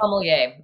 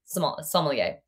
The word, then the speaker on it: sommelier: On that note, what is the official pronunciation? Because I will butcher this the entire time. Sommelier.